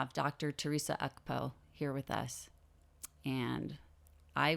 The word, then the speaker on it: Ukpo: Oh, okay, I wasn't pronouncing it correctly. Ukpo? Ukpo. Right. Okay, so I said it completely wrong.